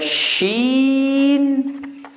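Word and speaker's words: شين: We have seen, we have sheen. Seen is like S, sa. Sheen is like sh, sha.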